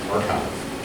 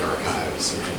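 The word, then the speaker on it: arXiv: It's a bunch of these like blank archives. For those confused by the way archive is spelled, the capital X looks like a Greek letter chi, and physicists are hilarious.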